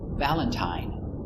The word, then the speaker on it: Valentine: one of three sounds Valentine uses a long I the same as mine Valentine Valentine but sometimes it's